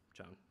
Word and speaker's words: chown: And for this demo, we'll be dropping cap chown. Chown. Is that how you pronounce that?